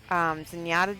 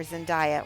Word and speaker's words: Zendaya: If you saw that show, Zenyatta did a pink wig, or Zendaya. Why do I keep saying her name wrong?